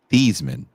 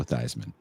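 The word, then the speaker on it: Theismann: So it can rhyme with the pre Joe Theman that you know him as Joe Thyman.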